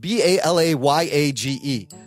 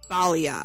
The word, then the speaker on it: balayage: Bal, it's spelled B A L A Y A G E.